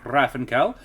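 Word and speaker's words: Hrafnkell: is uh uh the the main character is named rafenkel uh um that's the old norse pronunciation is the closest i can get to it um saga friends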